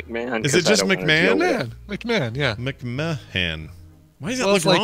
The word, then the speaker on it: McMahon: Is it just McMahon?